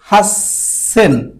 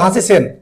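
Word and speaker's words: 八千: 8000 কি বলে? এটা একটি ব্যতিক্রম রাখছে, বলে হাসেন, হাসেন। 8000 ব্যতিক্রম। 18 বলে হওয়ার কথা ছিল হাসি সেন, হাসি সেন হওয়ার কথা ছিল, মানে হাসি মানে 8, সেন মানে 1000।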